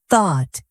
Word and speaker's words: thought: Thought. Notice the th sound. Your tongue should be between your teeth.